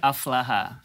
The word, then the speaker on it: Aflahah: Aflaha. Bacanya apa nih?